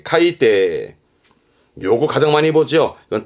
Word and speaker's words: 海底: 바다의 밑바닥이 해저의 저자입니다 발음은 카이데 카이데 요거 가장 많이 보죠